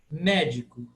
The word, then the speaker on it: médico: Médico. A primeira sílaba, me, é tônica. Di e co é átono. Médico. Né? Acentuada, a tônica é o me.